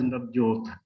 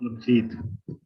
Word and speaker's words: Navjit: When Professor Ravindra Tiwari was speaking, he pronounced my name as Navjot, not Navjit.